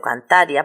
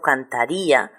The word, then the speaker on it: cantaría: Pero como yo no pronuncio cantaria, pronuncio cantaría, le pongo un acento en la I y señalo que no lo pronuncio como si fuera un diptongo, lo pronuncio como dos sílabas diferentes, como un hiato.